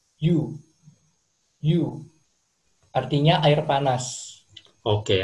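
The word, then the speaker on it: 湯: Di bahasa Jepang cara bacanya yu.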